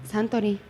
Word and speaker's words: Suntory: Y la compañía que lo mandó era Suntory, que se escribe Suntory, pero se pronuncia Suntory. Santori.